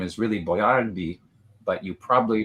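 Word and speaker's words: Boiardi: Uh, so the correct pronunci the authentic Italian pronunciation, you put the stress on the middle syllable.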